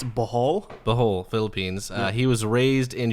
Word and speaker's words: Bohol: It's Bohol, Philippines.